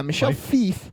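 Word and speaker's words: Michel Fiffe: think it's Michelle yeah Michelle F fief yeah Michelle fief I know um is the writer artist of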